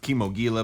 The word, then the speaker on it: Kimogila: it c'mon gila fighter I believe it is actually pronounced chemo Gila but it's been a